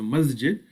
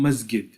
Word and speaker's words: masjid: example in egypt that pronounce the letter jim as gim right so masjid would become masgid and jamaa would become gama and janna would become gana many egyptians because they